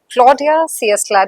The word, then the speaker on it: Claudia Ciesla: You're talking to Claudia Ciesla.